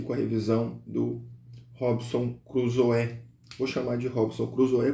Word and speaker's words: Crusoe: Então, mas eu sei que a pronúncia correta é Crusoe, mas vamos Crusoe para ficar mais natural, tá?